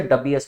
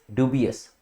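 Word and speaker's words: dubious: बी की या फिर जब आप बात करते हैं डी U double B आई एनजी की तो दिस इज प्रोनाउंस डब और डबिंग बट ऐसा नहीं कि आप इसको भी उस हिसाब से डबस बुलाएंगे दिस इज डुब अस ठीक है तो ड्यू बियस डीयू की साउंड आएगी इसमें तो प्रोनंसिएशन का भी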